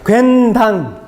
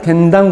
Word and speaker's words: 괜당: 한번 따라해 보겠습니다. 괜당. 발음 굉장히 잘하시는데요. 당이 아니고요. 그 자유한국당, 더불어민주당 할 때 당. 괜당. 식계 문화에 따르는 괜당 공동체가 형성된 거죠.